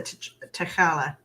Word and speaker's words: T'Challa: how you say his name yep there's a tacala okay so marvel studios will not recast the